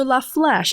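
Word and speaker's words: La Flèche: to want me yeah so la flash it's spelled f-l-e-c-h-e this is a very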